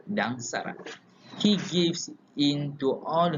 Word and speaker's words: Dang Sarat: That is Dang Sarat or Dayang Dang Sarat. Some people pronounce it Dang Sirat or Sarat, but it matters not, as the lady in